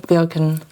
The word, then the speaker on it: Wilke: So tell us about who is Wilken. And just spilled coffee. Let's spill the tea. Let me get you like tissue. Yeah, so tell us about who's Wilken. Wilken, right?